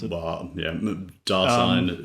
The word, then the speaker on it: Dasein: Heidegger's Dasein, or I don't know how to pronounce it. Well, yeah, Dasein, it's just being there, isn't it?